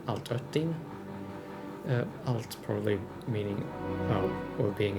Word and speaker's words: Altötting: Also, when you have two dots over an O like that, it is pronounced Ö, so altötting.